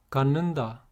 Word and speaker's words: 갖는다: When these are put before nun, all these sound like niun.